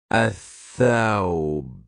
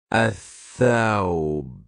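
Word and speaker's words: الثوب: Let's take another word pronounced in sun letter athai. The garment. Athawb. Athawb.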